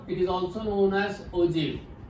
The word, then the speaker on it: ogive: Remember, pronunciation is ogive because the real word is OJEEV. Ogive. Okay, in your textbook also it is given that the pronunciation is ogive. Don't say ogive or ogive. This is the wrong pronunciation.